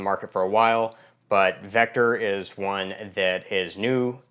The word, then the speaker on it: VKTR: for a while but Vector is one that is new to me um it's it's pronounced Vector from what I hear the people that work there pronouncing it but it's vkt they